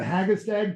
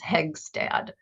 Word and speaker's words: Hegstad: A Hagestad provision? It's the way I pronounce it is Hegstad.